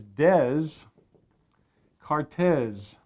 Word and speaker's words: Descartes: to spell descartes oh like d-a-y-k-a-r-t that's all right descartes no because it's not english and so what it is is it's des cartes and you say descartes all right so that's